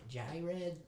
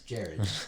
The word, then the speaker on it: Jared: your name is it is it Johnny red no it's Jared yeah still Jerry yeah